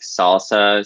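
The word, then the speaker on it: SLSA: we push for osquery it's SSA but pronounced salsa apparently I send a link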